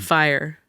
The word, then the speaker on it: Fyre: Fire.